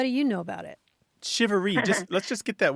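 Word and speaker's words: charivari: that tradition what do you know about it shivery just let's just get that word make sure everyone hears that it's shivery how would you spell that I've seen it c h a r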